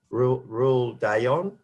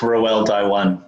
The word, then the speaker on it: Roel Daiwan: of Communities and Justice, Rule Dayon. Can you pronounce that, Rule, if you're... It's Roel Daiwan.